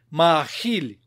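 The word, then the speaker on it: מַאֲכִיל: а два и три с ударением на и например мархель кормлю кормишь кормит мужской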